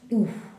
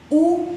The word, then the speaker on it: où: Y ahora vamos con el pronom relatif où. Où es donde. Fíjense bien, está con acento, no cambia la pronunciación.